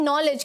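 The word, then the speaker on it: knowledge: नॉलेज। क्या कभी आपने ऐसा कोई वर्ड देखा है? नहीं। यहाँ क्या आएगा? नॉलेज। यहाँ का जो ये केस साइलेंट बोलने में है लेकिन लिखने में साइलेंट नहीं है, लिखने में ये लिखा जाएगा नॉलेज इज एवरीथिंग।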